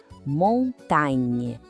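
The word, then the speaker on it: montagne: O detalhe aqui é esse som no final. Tente comigo. Montain.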